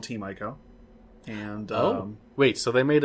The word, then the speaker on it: Ico: Eco, or depending how you pronounce it. Welcome How do you pronounce it? I'd tend to say Ico.